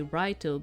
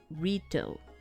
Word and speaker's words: Raito: names that for you it's probably better if I just say Raito, because you would associate better if I just say Raito. Because even in Japanese, they do not say Rito. They do not say it like that, okay? It's more, it has a sound more like Lito, and not actually with the roll of the R that you do, okay?